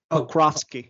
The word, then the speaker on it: Pokrovsky: It's SG Pokrovsky, if I'm pronouncing that correctly.